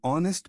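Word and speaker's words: honest: sound देखो spelling नहीं एन ऑनेस्ट मैन H silent है वोवेल साउंड है तो एन लगेगा यूनिवर्सिटी वाई यू साउंड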